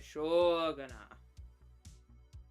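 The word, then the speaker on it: しょうがない: I finally remembered Shogunah. But you gotta say it right. You gotta say Shogunah. It basically means it can't be helped, or what you gonna do.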